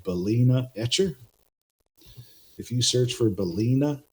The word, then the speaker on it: Balena Etcher: easy for you guys as well, is called Balena Etcher. If you search for Balena Etcher, you can see how it's spelled here, B-A-L-E-N-A, Etcher.